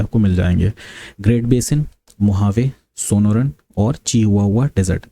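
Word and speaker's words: Mojave: Desert हैं, वो है मोहावे। ये स्पेलिंग इसकी मुजावे रहती है बट इसको प्रोनाउंस मोहावे किया जाता है।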